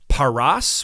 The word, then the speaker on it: Paras: But if you vocalize those consonants differently, not Peres, but as Paras with 2 A's, that's the word for Persia.